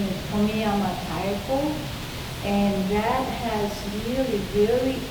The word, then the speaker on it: Tomiyama Taeko: Tomi, it reads, spells exactly as I am saying, Tomiyama Taeko, and her artwork will pop up.